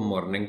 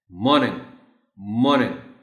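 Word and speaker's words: morning: पता तो वो तो मॉर्निंग कहेगा, आर को बोल देगा. तो are, tell them are is silent और इसको बोलना है मॉर्निंग मॉर्निंग.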